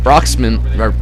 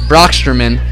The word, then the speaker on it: Broxterman: antonio up to face broxman excuse me broxterman if i could say it correctly here we go